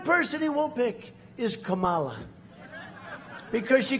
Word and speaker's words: Kamala: right like a comma remember he couldn't pronounce her name he was saying her name wrong and she tried to interrupt him know my name was kamala like comma i remember that like